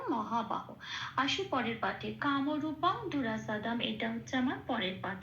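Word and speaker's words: দুরাসদম্: পূর্ণরূপে উচ্চারিত হবে খেয়াল রাখতে হবে এখানে যন্তসের উচ্চারণ সারেগামা পায় যে সটা বলি সেটা স তো স এরম বলতে হবে দুরা স দম আচ্ছা ম হসন্তটা শ্লোকের মধ্যেই আছে খেয়াল রাখতে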